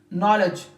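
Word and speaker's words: knowledge: भी it mean that one के comes before N सो के रिमेंस साइलेंट के कैन नॉट बी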